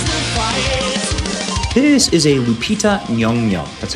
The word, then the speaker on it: Lupita Nyong'o: This is a Lupita Nyong'o, that's how you pronounce her name, and I hate that I